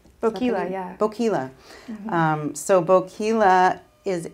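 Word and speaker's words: Boquila: Okay, the next one on my list was, I'm not sure I'm going to pronounce this right, Boquilla? Boquilla, yeah.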